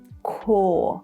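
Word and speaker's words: corps: Because the singular form is just like this one too, and it would be pronounced as core, or maybe the British say core. Remember non-rhotic accents? Core. So you see RPS are all silent.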